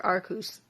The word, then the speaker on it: Arceus: So yeah, Arceus, the god of all Pokemon, or Arceus. My bad. That's how my favorite YouTuber Mikey pronounces it, and so I'm going with that.